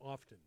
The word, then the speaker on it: often: think both is correct do you say often or often i never say often i don't either often they're both correct what do you say